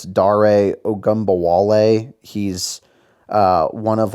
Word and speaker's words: Dare Ogunbowale: I'm not even going to pretend like I know who this guy is or how to pronounce his name. It's Dare Ogunbowale.